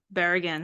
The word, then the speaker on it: Berrigan: old friend a former colleague and brooklynite Tim Bergen hi Tim hey how are you good I pronounced your name right right yeah okay just